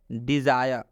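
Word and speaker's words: desire: Last example समझ लीजिए, डिज़ायर, डिज़ायर में भी आई के बाद से आर ई आया हुआ है, इसलिए इस आई का उच्चारण हम लोग आई से करेंगे।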